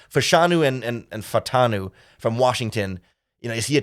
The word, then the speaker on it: Fautanu: I always want to say his name like Fashanu, and I end up starting to get them mixed up.